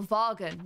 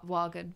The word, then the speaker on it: Wagen: V in German is pronounced as... Oh, Vargen. Not Wagen. Vargen.